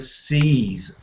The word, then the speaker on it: sees: Sees has a Z sound at the end and cease has an S.